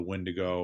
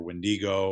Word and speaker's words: wendigo: more in tune to the windo or wendigo or I know there's like multiple different pronunciations of it depending on where you're at in the Alangian uh you know um uh area.